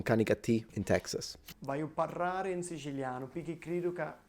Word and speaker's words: parlare: So I like your R's as a little, don't over-exaggerate them, because when you say parlare, it's good to roll your R, but don't do it too much.